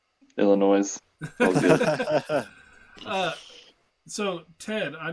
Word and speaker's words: Illinois: Yeah, and for the record, the S is silent on Illinois. Illinois.